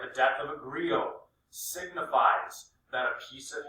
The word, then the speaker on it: griot: until the 20th century each king had a griot this word here is pronounced grio a grido is an oral historian